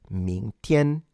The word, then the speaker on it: 明天: 明天, ming, ming, tian. Do remember the G is not pronounced and it's only used to fully nasalize the N.